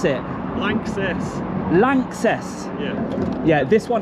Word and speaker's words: LANXESS: And how do you pronounce it? Lances.